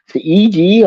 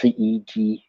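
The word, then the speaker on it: Thiede: Carsten Theede. I've probably butchered that, but it's spelled Thide. I think it's pronounced Theede, something like that.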